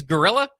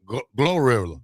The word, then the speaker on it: Glorilla: Her name is Gorilla. Glorilla. Glorilla. Oh, Glorilla. Okay, now I know who you're talking.